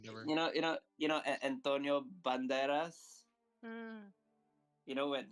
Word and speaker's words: Banderas: Oh, Spanish actor. Spanish. Therefore, you pronounce the S. Banderas.